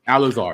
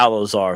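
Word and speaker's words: Elazar: Alazar. Well, what you just said would Eleazar. be that would be the actual Hebrew, but Right. Alazar is the Lashawan Kodash rendering.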